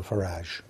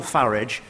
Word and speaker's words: Farage: of French fascists Nigel farage and Vladimir Putin I'm glad he takes the uh the English pronunciation of farage rather than the rather py foreign sounding one that he seems to prefer I think that's a